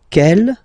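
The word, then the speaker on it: quelle: same way and then the feminine form is written like that q l l but it's pronounced like the masculine form Kell at the masculine Kell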